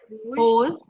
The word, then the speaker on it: rose: So hose, hose, hose, hose. No difference. Okay. Whether it is roses or rose. Hose. Okay. Yeah. Same as whose.